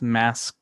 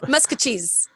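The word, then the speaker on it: Maskwacis: um masusus mosis masus masacus masacus you're giving almost all but the correct the correct one so musk cheese musk cheese okay yeah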